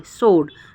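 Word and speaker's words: sword: सोड, शोड में भी हम डब्ल्यू का यूज़ नहीं कर रहे, मतलब एस के बाद जब डब्ल्यू आता है तो हम डब्ल्यू को प्रोनाउंस नहीं करते, डब्ल्यू साइलेंट हो जाता है।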